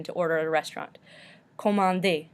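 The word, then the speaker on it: commander: order at a restaurant comandi we do not pronounce the R at the end because this is an ER verb too vain to find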